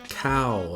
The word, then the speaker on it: Khaw: to today Lounge cow I know it's spelled Lounge C or whatever but it's pronounced Lounge cow as in food or rice I'm not sure why